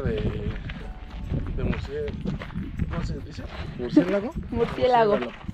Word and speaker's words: murciélago: ¿Murciélago? Murciélago. Murciégalo.